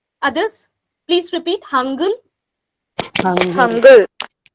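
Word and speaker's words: 한글: But don't pronounce as Korean language learners. You don't pronounce it as Hangul or Hangyol. Nothing like this. It is Hangul.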